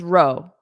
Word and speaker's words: row: It's row.